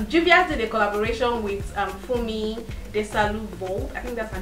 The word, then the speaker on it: Fumi: this train, but Juvia's did a collaboration with Fumi, I think that's her name. That's how her name is pronounced. With Auntie Fumi.